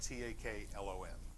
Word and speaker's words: Taklon: said i'm looking for a taclon bristle brush it's spelled t-a-k-l-o-n taklon and the girl said yeah we got